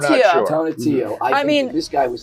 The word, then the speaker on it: Tonatiuh: Tonatiuh.